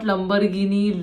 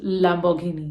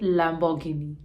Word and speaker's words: Lamborghini: it is Hyundai again this is most commonly mispronounced it is not Lamborghini Lamborghini it is Lamborghini you have to be little lavish also you have to call it Lamborghini this is a Chinese brand and it is